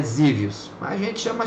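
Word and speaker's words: Xevious: Colúmbia essa se pronuncia zios então o X tem som de z né Eu vi um gringo pronunciando né então é zios mas a gente chama chevos mesmo Colúmbia né Como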